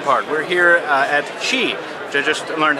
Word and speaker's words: Qi: is the fun part we're here uh at Chi which I just learned how to pronounce it's not as we've been mispronouncing it